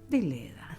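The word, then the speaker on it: Deledda: Deleda, exactamente. Gracia Deleda. Buscaba el nombre más arriba para pronunciar bien su apellido.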